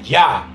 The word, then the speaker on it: ja: Oui, que en francés significa sí, y ja, que se pronuncia ya, que en alemán quiere decir también sí.